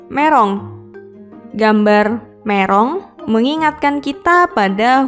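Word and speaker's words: メロン: Berikutnya adalah gambar buah melon yang dalam bahasa Jepang adalah merong.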